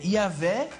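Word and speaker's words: Yahweh: se pronuncia isso mesmo isso na verdade é um dos casos clássicos de como nós herdamos esse nome via o latim o J do latim ele vale como a nossa letra i Uhum mas isso para quem sabe latim porque quando você vê o J no latim sem conhecer latim você vai pronunciar como J então o nome certo em hebraico é yahvé Eae mas é o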